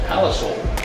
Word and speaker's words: Palisoul: pronounce your last name I pronounce it paliso paliso but it is said so Sal like the food so yeah like Sal